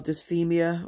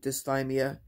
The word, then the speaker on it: dysthymia: But I just feel really lazy and not like officially depressed, but just low energy and kind of what they call dysthymia, or some people pronounce it dysthymia, which isn't true depression, but it's just this sense of tremendous blah.